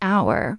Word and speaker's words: hour: And we say an hour because the h is silent.